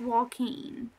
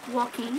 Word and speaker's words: Joaquin: i'm so glad that here it's pronounced joaquin well i completely blew that